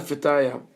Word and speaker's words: Fetaya: Rabbi Yehuda Fetaya, this is the proper pronunciation.